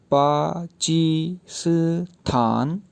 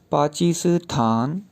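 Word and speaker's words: 巴基斯坦: तो पाकिस्तान का जो वर्ड है उसके 4 सेलेबल्स बन जाएंगे। तो ये प्रोनाउंस इस तरह से होगा पाकिस्तान, पाकिस्तान, पाकिस्तान।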